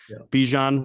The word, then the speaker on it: Bijan: phenomenal one at that so Bijan rhymes with Parmesan and he's about to